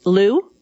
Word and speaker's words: Luu: Liu?